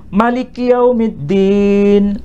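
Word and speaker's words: مَلِكِ يَوْمِ الدِّينِ: Maliki yaumiddin. Man dibaca pendek. Kalau dibaca pendek itu tidak biasa kita dengar di Indonesia. H biasanya panjang ya. Ma biasanya dibaca panjang. Jadi ini dibaca Maliki yaumiddin artinya raja di hari pembalasan.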